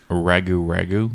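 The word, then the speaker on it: rougarou: Ragu ragu.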